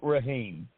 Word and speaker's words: Rahaim: our biggest contributors to our Survivor podcast Eddie Raheem and I did look up the last name and the pronunciation so I would have it right I